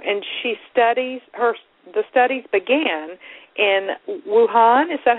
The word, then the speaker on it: Wuhan: And the studies began in Wuhan. Is that how you say it? That's correct. Wuhan, China, where the largest and oldest number of Feng Shui texts exist.